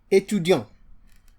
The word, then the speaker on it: étudiant: If you look at a word like which means student, étudiant, This exemplifies some of the things we have learned. Et, tu. You remember the U, dion. Remember the on here, an. The T is silent.